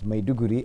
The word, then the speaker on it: Maiduguri: It's Maiduguri actually, but the pronunciation goes with the same dialect, Maiduguri.